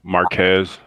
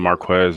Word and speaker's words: Marquez: difficult to pronounce um i usually get you know marquez um opposed to marquez and that's the most